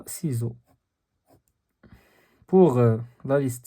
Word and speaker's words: ciseau: ك ك ك ك sauf le mot ciseau, on prononce la lettre C, C, parce qu'on a I devant C. Donc, on a ciseau.